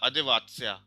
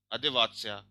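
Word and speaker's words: одеваться: ठीक है, अब देखो इसका प्रोनाउंसिएशन स की तरह हो जाता है ना, अदेवात्स्या, अदेवात्स्या। तो प्रोनाउंसिएशन पे ध्यान दे लेना, अदेवात्स्या।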